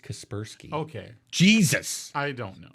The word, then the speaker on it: Kaspersky: the software for the shuttle was kapersky as i believe that and it's pronounced kaspersky okay jesus i don't